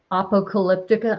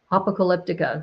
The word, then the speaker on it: Apocalyptica: that I forgot that Apocalyptica or Apocalyptica. That's how they pronounce it. I used to call it Apocalyptica, but they call it Apocalyptica.